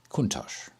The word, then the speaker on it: Countach: Turbo or a Lamborghini Countach and don't correct my pronunciation about that unless you actually live in Bologna kuntosh but yes the 911